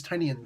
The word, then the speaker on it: Tynion: James Tynion IV actually did this issue. James Tynion IV. Everybody's telling me that's how you pronounce his name.